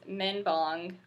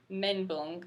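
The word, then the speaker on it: 멘붕: to the to promote next is men bong which or men bunk I think is the correct pronunciation if you listen to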